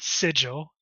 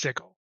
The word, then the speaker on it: Sigil: city of doors who I've learned the proper pronunciation is not sigil sigle I always thought it was sigil but no it's CLE who the whoever pronounced it